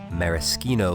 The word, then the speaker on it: maraschino: You'll also need some maraschino liqueur. Make sure you pronounce that like a good Italian.